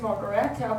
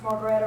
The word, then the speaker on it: Margaretta: But if you wrote that name down and I told you how to spell it, you might not pronounce Margaretta right, because it's M-A-R-G-A-R-E. You might say Margaret, you know.